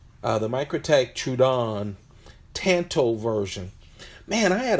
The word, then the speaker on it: Troodon: is the micro tech I've been mispronouncing this forever so I'm just gonna try to do how they wrote it phonetically chewed on the micro tech Troodon I've always called it chewed on the micro tech chewed